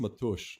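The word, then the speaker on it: Matúš: Um it's not pronounced Mattis. It's pronounced matush. Like that's actually how he wants it to be pronounced because his first name is matush.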